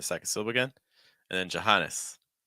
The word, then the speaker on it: Johannes: Sil again and then Johannes Johannes very weak first Johannes Maria we've seen